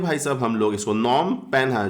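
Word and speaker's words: Phnom Penh: और नॉम पेन है, इसको पढ़ते हैं नॉम पेना, नॉम पेना ऐसे पढ़ते हैं भाई साहब हम लोग इसको, नॉम पेना, जो कि क्या है?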